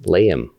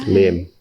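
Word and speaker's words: Liem: And my name is not technically pronounced Liam. It's Lim.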